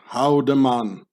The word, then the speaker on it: Haldimann: In the Bernese Swiss-German dialect, where the Emmental lays in, the name Haldimann gets pronounced Haldemann, meaning, or Haldimann, meaning